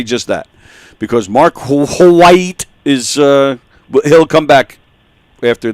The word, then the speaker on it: White: All right, so in that case, thank you for joining us, Mark Wahaiti. No, White. Well, no, you got to pronounce the E at the end.